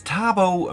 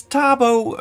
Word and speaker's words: Thabo: My name is Tabo. And Joel, thank you very much. And you're welcome, Heiko. Yes, Tabo. Tabo is a name in Swahili, often being used in South Africa. Tabo means happiness.